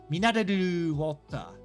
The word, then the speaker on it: ミネラルウォーター: Because I want to skip the ra and go minaru, but it's mineraru water.